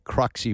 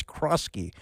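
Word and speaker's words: Croskey-Merritt: They have rolled up 782 yards, seven touchdowns on the ground, including two from Jakori Croxy Merritt, which or Kroski, I always pronounced that wrong. It's Kroski Merritt.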